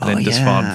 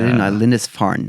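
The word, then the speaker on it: Lindisfarne: monks who who fled Lindesf from the constant Sorry, I pronounced that incorrectly. Lindesfarn not Lindes.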